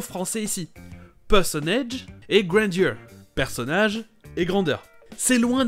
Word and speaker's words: grandeur: l'autre truc intéressant c'est la prononciation en anglais du mot grandeur ici les principes granger mais c'est très souvent prononcée grainger comme s'il y avait le songer au milieu grainger et avant de quitter